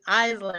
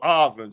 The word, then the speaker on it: Osland: I was telling it's Island, right? Island. No, Osland. Say it right. It's Osland. Oh, Osland. It's pronounced. Okay.